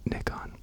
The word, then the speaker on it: Nikon: filming right now on a rinky dinky little Nikon C30. And uh yes, I asked it is in fact pronounced Nikon.